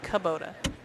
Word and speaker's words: Kubota: Chat's correcting our pronunciation. It's Kabota.